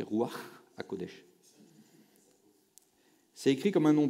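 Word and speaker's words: Ruach HaKodesh: Bonne prononciation, c'est roi HaKodesh.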